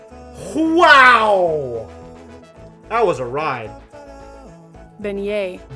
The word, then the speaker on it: beignet: How do I pronounce Beijet? Beignet. Wow, that was a ride. Beignet. Benignet.